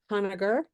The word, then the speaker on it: Honegger: So we have Honegger. Did I pronounce it correctly?